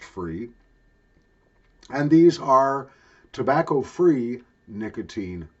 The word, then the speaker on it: FRE: that's the brand name fre may be pronounced free and these are tobacco-free